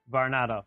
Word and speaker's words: Varnado: Am I pronouncing this correctly, your last name, sir? Varnado, yes.